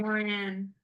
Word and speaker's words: Moran: not trying to call you moron. I'm sorry. Moran.